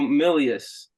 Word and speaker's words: Milius: brain Forest podcast got special guests got Milius did I say it right yeah you got